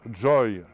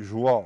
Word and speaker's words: joie: Et pour donner un exemple, c'est parce que en anglais on prononce joy, ce qui se dit joie en français que l'on sait que à l'époque de Guillaume le conquérant, le français ne prononçait pas joie comme aujourd'hui mais Joy.